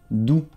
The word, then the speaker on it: doux: Es como si pones la D y la U en español. Du. No se pronuncia la X. Du. Y O e U se pronuncia U en francés, como lo notaste.